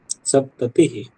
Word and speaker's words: सप्तति: पंचसप्ततिः, षट्सप्ततिः, सप्तसप्ततिः, आपका ती दीर्घ क्यों हो रहा है? ती ह्रस्व है ना? सप्तसप्ततिः, सप्तति।